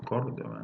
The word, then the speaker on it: Córdoba: Los americanos no dicen Córdoba, dicen Córdoba. Córdoba. O sea, ¿por qué no podrán decir con el acento en la O, Córdoba, no?